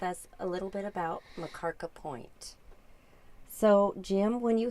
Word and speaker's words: Makarka: That's the way my mom would do it, Makarka. And he couldn't pronounce Makarka Point.